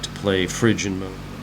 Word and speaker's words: Phrygian: the watchtower okay the next darkest mode is Phrygian I've learned it's actually pronounced Phrygian mode these are all Greek names and the